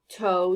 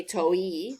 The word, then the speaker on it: toe: are coded how about toe dough same thing cross out the e because when i say toe i don't say to e i say toe cross out the e it's silent do same thing cross